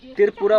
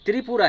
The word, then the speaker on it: त्रिपुरा: त्रिपुरा पूरा कल्चर से भरा हुआ है और इसका स्टेट का नाम मतलब त्रिपुरा बोलते हैं। एक्चुअली में त्रिपुरा है। त्रिपुरा नहीं है। इसका रियल जो प्रोनाउंसिएशन जो होता है वह त्रिपुरा हम त्रिपुरी सुंदरी जी